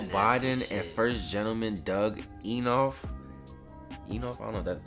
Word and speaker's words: Emhoff: First Lady Jill Biden and First Gentleman Doug Emhoff. I don't know that Emhoff.